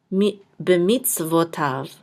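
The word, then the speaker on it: בְּמִצְוֹתָיו: with a kamatz, and this yud will not be sounded. And then this is a vav, so it's going to say tav, b'mitzvotav.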